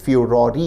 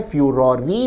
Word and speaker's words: furore: Also created a political फ्यूरोरी। विद्यार्थी ध्यान दें, शब्द FURORE के दो उच्चारण है, फ्यूरोरी भी और फ्यूरोर भी।